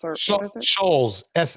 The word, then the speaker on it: Schulz: How do you pronounce his last name? Skulls or Skults or what is it? Shulz, Schulz.